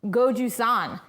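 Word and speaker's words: gochujang: Sandmanism says, I hate to be that guy, but it's pronounced Goju-San.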